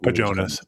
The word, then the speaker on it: Pajonas: But Pajonas. It's like a Jonas brother. But Pa Okay.